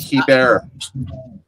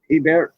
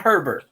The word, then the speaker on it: Hebert: accent from Louisiana to Canada because we pronounce the H.